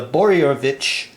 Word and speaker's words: Boroević: to get away from the boryovich dictum which i think i finally pronounced uh his name properly so i made a